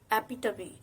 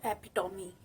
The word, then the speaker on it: epitome: It's epitome, not epitome.